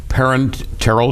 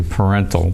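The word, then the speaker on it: parenteral: and this is called parent Terell support yeah it is the I I often don't pronounce the last part of it I say parental but oh well you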